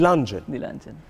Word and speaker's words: Dilanjan: i think a lot of people get your name wrong it's actually the lunch the single is the the luncheon i thought i got it right the luncheon